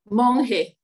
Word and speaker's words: Monge: How do you pronounce your last name? Monge.